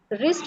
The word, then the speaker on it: wrist: Okay, W silent होता है उसमें.